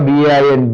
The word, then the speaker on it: Bain: Even though R is silent, you just remember B-A-I-N, Bain.